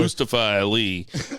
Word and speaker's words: Mustafa Ali: Mustafa Ali. Mustafa. That's right. Actually how you pronounce it. Story. Mustafa Ali was supposed to be in the main event at much WrestleMania.